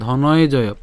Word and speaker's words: ধনঞ্জয়: এটা ধনঞ্জয় কেন? একই রকমভাবে আমরা ধনঞ্জয়কে যদি ভাঙি কি পাই? ধ দন্তান্ন পর্যন্ত পাচ্ছি, নট নিয়, ঠিক আছে? তাহলে তাহলে ধনয়, এরপর হচ্ছে জয়, ঠিক আছে? ধনয় জয়। তাহলে পুরো উচ্চারণ হচ্ছে কেমন? ধনয় জয়।